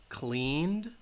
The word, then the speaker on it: cleaned: laughed kissed all right if the final sound is voiced where the IDI will have the D sound called cleaned loved and if the final